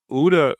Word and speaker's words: OODA: Um, and then where UDA comes is that uh, UDA was it's spelled OODA. It's an acronym.